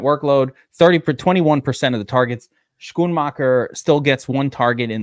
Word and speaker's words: Schoonmaker: Can you pronounce Schoonmaker for us? Can we get an appropriate? It's Schoonmaker.